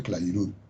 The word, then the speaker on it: Clairaut: Se escribe Clairaut, pero se pronuncia Clairaut.